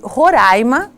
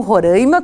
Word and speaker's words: Roraima: Comigo está o professor Robson Oliveira de Souza, ele que é docente na Universidade Estadual de Roraima, porque eu aprendi que é assim que se pronuncia e não Roraima, como a gente diz, e ele veio do